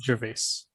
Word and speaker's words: Gervais: I think that's how his name is pronounced. Yeah, it is Gervais.